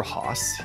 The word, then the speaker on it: hoss: because the flying horse called the air Hoss usually spelled h-o-s-s reflecting their Regional pronunciation of horse is a lesser-known Cryptid